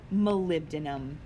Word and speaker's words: molybdenum: look up in order to know how to pronounce correctly, is called molybdenum.